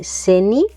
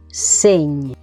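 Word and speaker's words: seny: Señ, no es seni, sino señ.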